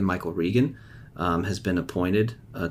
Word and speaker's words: Regan: i believe his name last name is pronounced regan not reagan michael regan um has been appointed